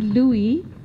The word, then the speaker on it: Louis: Yes, my name is Louis. The S is not pronounced.